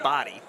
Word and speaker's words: Bahadi: It's the way it's spelled, but it's said body. That's the way you say it. No, that's the way he says it.